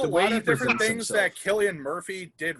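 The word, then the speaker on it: Cillian: so on scarecrow um do you pronounce it sillian or killian murphy uh killian murphy killian he was gosh he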